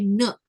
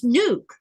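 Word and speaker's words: Nuuk: look at the word, there's two U's. It's N-U-U-K. But it's they a bunch of them will say nook or nuck. You know, they'll make that short sound. And instead of asking, they'll just mispronounce it without asking. It's nuke.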